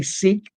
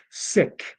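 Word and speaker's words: Sikh: many sick Truckers and I say sick I don't say Seek simply because if you talk to someone of the faith that religion they call it sick not seek I understand why a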